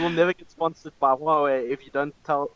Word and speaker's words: Huawei: Hawaii.